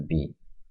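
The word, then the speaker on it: بِ: Nah, bi. Ini bacanya bi ya, bukan ba. Ini banyak hanya ejaan saja. Ba, maksudnya bi.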